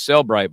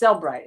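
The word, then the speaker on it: Cellebrite: it is it is Celbrite, by the way. Even people want to say Celbrite because there's a little e stuck in there.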